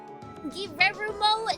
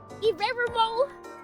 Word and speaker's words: Guillermo: Oh, it can't roll its R's in the correct way. Guillermo del Toro. Guillermo. That's how we're pronouncing his name from now on.